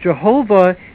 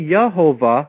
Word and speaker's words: Jehovah: a problem in that Jehovah is not pronounced correctly because the J was a y sound in Latin it should be yahovah which is the actual